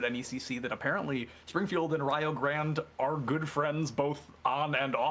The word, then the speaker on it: Rio Grande: It's not going to be Rio Grande. It's going to be spelled like that, but it's going to be pronounced Rio Grande.